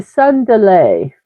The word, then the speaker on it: tsundere: It's pronounced sundir, I hope. I'm horrible at pronunciations. I'm sure it will be corrected for me. The sun, well, some people say it's pronounced the sun delay, the sun delay.